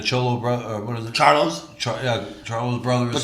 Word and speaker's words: Charlo: I can never pronounce their name. The Charlo brother. Charlo.